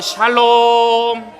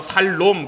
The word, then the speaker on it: 샬롬: 액센트가 뒤에 있어요. 샬롬. 발음을 잘하셔야 돼요. 샬롬. 그렇게 하면 안 되고요.